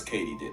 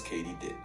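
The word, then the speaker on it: katydid: completely butchered that word turns out it's katie did as in did katie do it yes katie did i'm gonna mispronounce it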